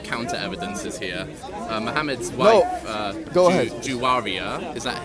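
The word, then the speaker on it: Juwayriyah: Muhammad's wife, Juwaria, is that how you pronounce her name? Juwaria, yeah.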